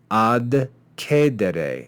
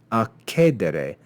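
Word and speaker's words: accedere: Here we have the preposition ad being joined to the verb cedere in classical Latin, ad cedere. And you can see that's very difficult to pronounce. Ad cedere, ad cedere. But if we simply assimilate these consonants, we can change that letter de into a ke and say akedere, akedere, which is much easier to pronounce.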